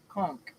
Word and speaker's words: conch: us at the Aloha Conch. The Aloha Conch. Go ahead. TheAlohaConch. CONCH. Conch. Not conch. Conch. The Aloha Conch. I'll be the first one to put you in timeout for mispronouncing conch.